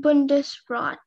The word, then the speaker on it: Bundesrat: speller speller16 hi your word is bundesrat um bundesrat are there any alternate pronunciations there's just the one bundesrat um may